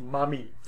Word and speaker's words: Mami: She's referred to also as Belet Ili, or Mami, and literally that's how it would be pronounced, Mami.